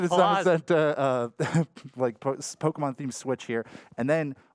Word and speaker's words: Zamazenta: Zacian and Zamazenta, Pokemon-themed Switch here.